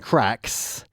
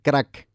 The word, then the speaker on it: crack: where we can find cracks, let's just focus very briefly on the pronunciation. We don't say crack, okay? It's crack. Yeah? Produce that R. We don't use our tongues.